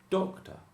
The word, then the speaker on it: doctor: Stress on the first one. Also, this schwa is a light syllable, okay? It is the second syllable, but it's unstressed, and also the schwa is less of a normal syllable. So it's doctor.